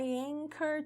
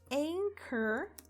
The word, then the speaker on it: anchor: Anchor quer dizer âncora. É com esse CH, né? Mas a gente pronuncia com som de K. Então, não é anchor, tá? É anchor.